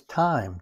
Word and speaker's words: thyme: toss that in there next comes thyme th h y m and that's same thing